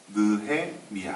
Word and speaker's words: 느헤미야: 애미야 뇌 역마다 그렇게 자꾸 죽는 사람이 있는데 발음을 정확하게 해서 느헤미야 아 니 음량이 리비아는 2 성경에 나오는 인물들